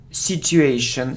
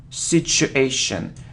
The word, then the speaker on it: situation: word mortgage mortgage look I often hear situation situation but if you look at the pronunciation the correct transition it's the sound sure sure so situation situation so you need to say situation okay well done okay